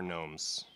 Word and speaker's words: gnomes: So, and I will be probably pronouncing the G in it every time because of David the gnome.